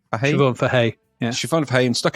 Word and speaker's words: Siobhan Fahey: Is that Siobhan Fahey? Siobhan Fahey, yeah.